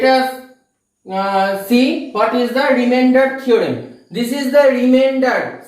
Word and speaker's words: remainder: So students, let us see what is the remainder theorem. This is the remainder. Some students pronounce it as reminder, not like that. Remainder theorem.